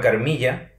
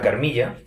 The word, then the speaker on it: Carmilla: uno que se llama carmilla Supongo que se puede pronunciar carmila también de Joseph cheridan le fanu